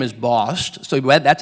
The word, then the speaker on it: Bost: The first thing I want to do is the name is Bost, so that's how that's pronounced.